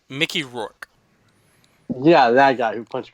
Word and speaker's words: Mickey Rourke: So, yeah, I hope it's good, like the Wrestler movie, like Ricky Rourke. How did you say his name? Mickey Rourke.